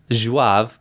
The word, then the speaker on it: Zouave: It's Zouave. So Zouave.